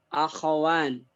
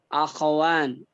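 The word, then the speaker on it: أخوان: Kalau musanna akhawan. Ingat-ingat ini pas soal ini. Akhawan itu bentuk musanna, bentuk 2.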